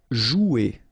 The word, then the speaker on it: jouer: Okay, remember you combine this O and U, you get the sound OU, so joue. Okay, J is pronounced like J, joue, and then ER here, you combine them at the end, et, jouer.